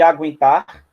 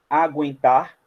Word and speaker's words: aguentar: Tá vendo aqui aguentar? Aguentar. Esse trema que era colocado em cima do U era para você não falar aguentar, e falar aguentar.